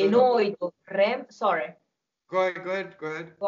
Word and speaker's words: noi: and coaches saying this, for a lot of people they make it rhyme with the English word boy. Mm-hmm. See, so they say noi, right?